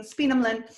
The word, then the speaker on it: Speenhamland: And not only is the Act of Settlement repealed, but the 1796 Speenhamland, the English have a funny way of pronouncing Speenhamland, Speenhamland laws, or you can call them the poor laws of 1796, are enacted.